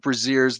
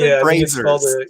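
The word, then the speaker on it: braziers: You do see a bunch of breazers. They're lit uh all over the place. Uh is that the same thing? It's pronounced brazers.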